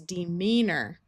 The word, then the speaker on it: demeanor: I know it's spelled OR, but at the end of a word, it takes on a muffled sound and sounds like most of the time. So this is demeanor.